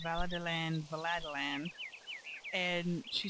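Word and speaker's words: Valadilène: She's a local, and she pronounced Veladilan, Veladilan.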